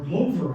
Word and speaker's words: Glover: Glover, Yeah. or Glover, actually, I'm told is pronounced. People in Massachusetts tell me, but yeah, Glover's Rock.